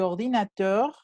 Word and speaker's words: ordinateur: Aquí no hay liaison porque ordinateur siempre se pronuncia así. La R siempre suena.